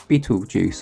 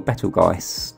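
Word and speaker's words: Betelgeuse: be able to see beetlejuice or battleguys depending on i prefer to pronounce it so that's uh a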